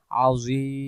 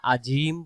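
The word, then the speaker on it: عظيم: এগ আলিফ ডান হবে আজিম উচ্চারণটা এমন হবে যদি সেই জায়গায় আমরা সুবহানা রাব্বিয়াল আজিম পড়ি আজিম আজিম এই মাঝখানের যে জ অক্ষরটা আছে এটা জ অক্ষর না হয়ে জিমে রূপান্তরিত হচ্ছে তাহলে জিনিসগুলো আমরা সবসময়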